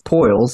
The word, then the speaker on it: Poiles: i mess it up no you did good as uh it's poyles yeah all right so are